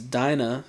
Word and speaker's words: Dina: realizes it was because dinah should be pronounced dina had royal blood and